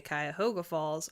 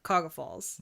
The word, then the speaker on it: Cuyahoga Falls: pronounce Cuyahoga Falls, because you can tell if you're from there based on whether or not you say Cuyahoga Falls or Cuyahoga Falls. Mm-hmm. People that are from Cuyahoga Falls will drop 3 syllables out of the middle of the word, and so I did